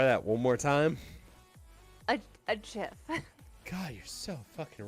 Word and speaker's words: GIF: Okay, how do you pronounce something that you get on Christmas? What is it called? It's called a gift. That long-necked creature from Africa. What do you call that? A giraffe, and that's GIR.